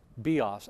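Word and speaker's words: βίος: that the bow's name, bios, with the accent on the last syllable, is life, bios, accent on the first syllable, but its work is death.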